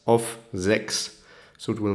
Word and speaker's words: sechs: CH and S is pronounced like a X, like a K, KS, sechs.